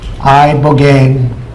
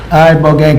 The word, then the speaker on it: Ibogaine: It's called Ibogaine treatment. Ibogaine. Remember the name. Is that pronounced relatively properly, would you say? Yes. I don't want to get it wrong. Ibogaine cuz it's so important.